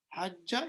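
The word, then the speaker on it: حجّ: But this is, we don't pronounce it like that. We pronounce it with the shadda. Hajja yahujju, yahjuju, hajaja yahjuju.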